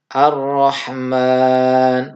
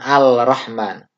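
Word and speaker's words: الرحمن: adalah arrohmanirrohim ar-rahman jadi dibaca ar-rohmat bukan al-rahman kemudian dicontoh dua Ia umit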